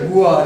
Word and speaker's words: Beauvoir: The pronunciation is Beauvoir, but the spelling is different.